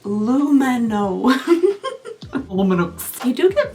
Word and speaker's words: Lumino: It's pronounced Lumino.